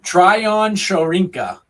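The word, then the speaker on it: Tryon-Shoyinka: You're gonna have to pronounce his last name for me. Tryon Shorinka.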